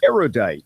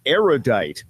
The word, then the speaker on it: erudite: number of erudite people mispronounce erudite which has three syllables not four say erudite not erudite because you are judged